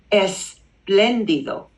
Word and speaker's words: espléndido: It's not splendid, but it's espléndido. Notice how we've separated the SP, the S plus the consonant in Spanish. And we put an E, so we've created an additional syllable there.